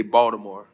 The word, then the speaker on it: Baltimore: They say Baltimore, so that's how they pronounce it.